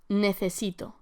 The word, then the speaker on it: necesito: Necesito. Again here, be sure to pronounce the C as an English TH.